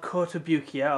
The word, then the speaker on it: Kotobukiya: inches tall originally made by a company called kotobukiya or kota kobaya however you want to pronounce it uh it's made i think it's